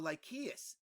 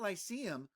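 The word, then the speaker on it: Lykeios: is dedicated to apollo lychees so it's not lysium with a soft sea it's lychee with a hard c like a k and the root in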